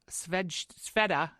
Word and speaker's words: Svedja: And today, for episode 49, we're here with Micah Sveda, right?